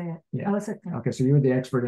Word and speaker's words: Osaka: Osaka.